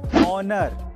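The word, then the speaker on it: honour: Number two, अगर किसी word में ओ से पहले एच आए तो उसमें एच साइलेंट रहता है, जैसे कि ऑनर, आवर, ऑनेस्ट।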